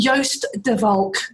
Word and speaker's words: Joost De Valk: And today I'm talking to Joost De Valk.